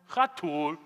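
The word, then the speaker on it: חתול: in english cat and why do we remember that don't let the cat step on that hot tool got it so once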